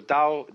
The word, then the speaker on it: Tao: and uh the book is called the Dao de Jane if there were an apostrophe after the T you would pronounce it Tau but if there is no apostrophe you pronounce it Dao because our Scholars made